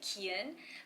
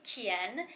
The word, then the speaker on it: Kiyun: you pronounce your name my name is kiyun so in korean people just call me keon but in america the un sound is really hard to pronounce so actually in my kindergarten in new jersey i still remember my teacher her name was mrs korea with a c but she actually called me kien so ever since then